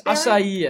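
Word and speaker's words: açaí: I think it's acai. I think it's acai three syllables berry.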